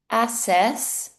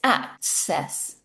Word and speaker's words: access: And again, with this double C, this also creates the k sound. So it's not access, it's access, access.